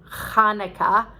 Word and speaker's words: Chanukah: chanukah or that is hanukkah spelled with a ch meaning that uh it's supposed to be more guttural like chanukah but i thought oh